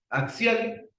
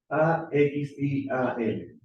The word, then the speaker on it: axial: Y axial, fíjense que ocupa, aquí voy a ver, A, X, I, A, L. Ahí dice axial. Oh, ¿sabían eso, cierto? Así se escribe axial. La X. Esa X en el, suena más a una X latina.